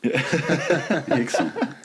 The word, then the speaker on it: Rickson: I was like, it says Rickson. Hickson.